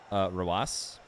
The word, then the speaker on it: Rawas: How do you pronounce Rawas? Pronounce it Rawas. Like it's R-A-W-A-S.